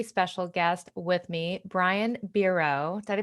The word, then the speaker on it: Biro: And today I have a very special guest with me, Brian Biro. Did I pronounce that correctly? It's actually Biro, but that's okay. Biro.